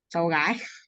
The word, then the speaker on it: cháu gái: Is it And Chow Guy? Sally and Chow Trai? Is that how you say it? cháu gái. Chow Guy.